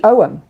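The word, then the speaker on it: Ogham: Uh, and we have our own symbols here in the Celtic pantheon known as the Owen, which is spelled O G H A M O, but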